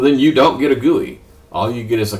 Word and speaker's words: GUI: So graphical user and by you know it's pronounced guey gui guey.